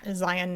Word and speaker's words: Zion: He says that it's near Zion National Park. And I was like, thank you. It's not Zion's, it's Zion. Thank you. So anyway, Zion is not Zion either.